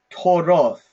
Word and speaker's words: toroth: The plural is toroth. Toroth. Like with the F sound or a TH sound? TH sound. Okay.